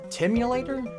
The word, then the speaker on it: Timulator: In this enterainment adventure, Bowser has created a time machine called the the Timulator. The the Time. Timulator. It's spelled like simulator but with a T.